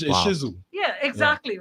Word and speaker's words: Shih Tzu: But there's so now that fast forward a million years later with my Shih Tzu.